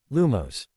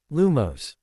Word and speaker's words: Lumos: He listened to him say in his squeaky voice, "Reat after me, Lumos. Lumos." The class repeated, "Yes, like that, but make sure to put more emphasis on the first syllable, or else it won't work."